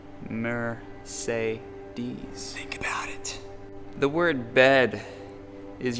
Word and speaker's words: Mercedes: a blow your mind the word Mercedes has the letter e pronounced in three ways mur say DS about the word bed